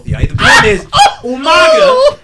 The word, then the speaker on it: Umaga: I'm saying it like William Regal, but Umanga.